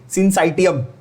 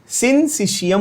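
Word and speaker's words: syncytium: I know many teachers also many students call it सिंसाइटियम। सिंसाइटियम नहीं होता, सिंसिशियम होता है। क्या होता है? सिंसिशियम। इसका मतलब क्या है जरा समझाता हूं, डिटेल में समझना। सिंसिशियम का मतलब, the word sin, word SYN, sin means what?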